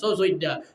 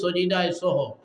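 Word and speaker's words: সিজদায়ে সাহু: সহসজ্জা আমরা গাওয়ালি ভাষায় কই সহসজ্জা, শুদ্ধ শুদ্ধ উচ্চারণ হইল সজিদায় সহ, ভুলের কারণে সজিদায় সহ দেওয়া লাগে।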